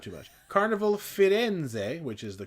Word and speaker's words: Firenze: Carnival Firenze, which is the correct pronunciation by my understanding, formerly Costa Firenze.